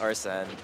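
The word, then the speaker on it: Arsène: right now and has are sent up alright it's pronounced arson oh nice up there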